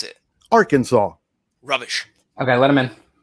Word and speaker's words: Arkansas: And that's the one next to Arkansas.